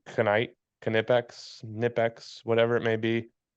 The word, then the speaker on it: Knipex: I have heard a little birdie tell me it's Knipex. The K Oh, might not be oh. silent, but I think that'd be a little weird. Knight, Knipex, Nipex, whatever it may be.